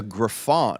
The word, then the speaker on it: griffon: a very intelligent very sweet dog it's a griffon okay cuz it looks like it's written like